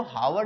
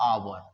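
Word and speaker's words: hour: अब ये एच ओ यू आर है इसको हावर नहीं आवर बोला जाता है। ठीक है? तो उसमें जो एच होता है वो साइलेंट होता है और ये आ का साउंड देता है।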